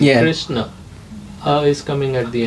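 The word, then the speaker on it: कृष्ण: But when you pronounce it, there's a little A at the end. Yeah. Krishna.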